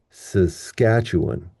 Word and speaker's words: Saskatchewan: Saskatchewan, seditious, Silurian, society, superfluous, synonymous. What did the first syllable sound like? S, s, s, s, s, s. They all sounded like schwa.